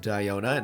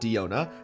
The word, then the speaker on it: Diona: story time diona yes it's supposed to be pronounced dionna not diona diona's story is pretty